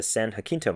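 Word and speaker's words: San Jacinto: who pointed out that the mountains behind me are pronounced the san jaquinto mountains o'donnell holds a special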